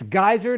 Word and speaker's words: Geiser: And it's Geiser, not Geiser, people. So don't mispronounce it.